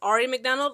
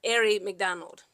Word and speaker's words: Aari McDonald: I want to so badly pronounce her name as Aari McDonald, like, Aari short for Ariana. But I believe she said herself that she pronounces it as Aari McDonald.